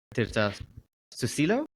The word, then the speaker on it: Tirta Susilo: Tirta Susilo. Is that how you pronounce it?